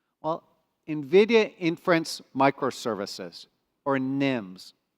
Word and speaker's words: NIM: Nvidia inference microservices or Nims a very short word easy to pronounce nim nim what is a Nim